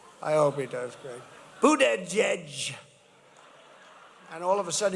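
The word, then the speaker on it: Buttigieg: Boot, edge, edge. You say boot, and then you go edge, edge.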